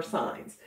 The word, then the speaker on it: sign: we should put our signs oh a sign that's one of your spelling words this week do you remember how to spell it s i g n that's right because the g is silent all right here we